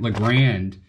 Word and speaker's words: Legrand: going to put in the legrand is how you say it legrand uh switch and we're